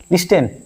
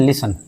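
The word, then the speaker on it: listen: लिस्टेन। नहीं इसको पढ़ते हैं लिसन। यहां पे टी साइलेंट है।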